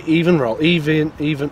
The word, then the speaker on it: EVNROLL: Is it EVN or Evan? I'm going to say EVNROLL. EVNROLL. I think that's how it's been pronounced.